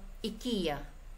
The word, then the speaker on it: IKEA: company name is called IKEA it is read like any other word it is never spelled out letter by Letter i k e a for example the company name is called IKEA it is read like